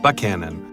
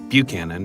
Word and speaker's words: Buckhannon: of Bremen and that Chapman's trial was held in Buckhannon not Buchanan it's just about anybody else outside of town would say it so